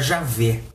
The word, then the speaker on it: Javé: disse aquele que é em hebraico yhvh que deve se pronunciar Javé ficou sendo o nome